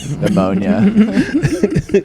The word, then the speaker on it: pneumonia: Or like pneumonia. Exactly. Would they use the silent letters?